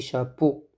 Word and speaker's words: chapeaux: le sont le 106 des chapeaux x x ne se prononcent pas des chapeaux il y a y